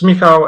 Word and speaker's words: Michał: So it's Michał, and my surname is.